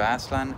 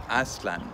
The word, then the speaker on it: Aztlan: In the last episode, I mentioned that many people refer to Aztlan as Aztlan, which is a Hispanicized pronunciation, and incorrect if you're following Nahuatl phonetics. The correct Nahuatl pronunciation is Aztlan.